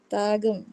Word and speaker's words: தாகம்: தா கையும், தாகம். தாகம். தாகம். தா லாயும், தாளம். தாளம். தாளம். ஓகே, என்ன ஒரு விஷயம்னா இதுல வந்து தா அப்படின்னு சொல்லும் போது நம்ம நெடில தான் உச்சரிக்கணும்.